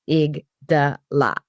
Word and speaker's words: amygdala: And explains how it's pronounced. An amigdala. Okay.